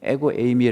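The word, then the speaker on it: ἐγώ εἰμι: 나는 무엇이다 그 표현인데요 헬라어로 애구 에이미 에고 에이미 라고 발음하는 데 예를 들어 나는 문이다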